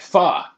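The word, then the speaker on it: phở: There's an accent on the O.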